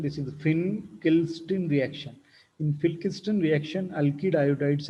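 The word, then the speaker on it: Finkelstein: one is pin kill system reaction see the pronunciation this is the fin kill strin reaction in filkisten reaction alkylides are prepared and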